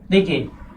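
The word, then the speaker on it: the: आ रहा हो भाई, अगर इसके बाद में सुपरलेटिव डिग्री, सुपरलेटिव डिग्री आ रही हो तो इसका प्रोनाउंसिएशन दी होगा। क्या ये तीनों चीज समझ में आई आप लोगों को कि इसका प्रोनाउंसिएशन द और दी कब होगा?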